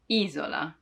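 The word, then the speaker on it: isola: going out right now i'm stressing the eye izola you want to smile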